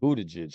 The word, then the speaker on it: Buttigieg: which was Pete Buttigieg. I said that the other night when all of our kids were over for dinner, and they all laughed because it's a weird name, and I'm like, Buttigieg.